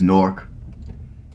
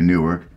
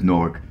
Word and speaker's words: Newark: in Lincoln County well the proper way to pronounce it is Newark I got a bad habit of City Newark but really the proper way to pronounce it is Newark so welcome to Newark Ohio now Newark Ohio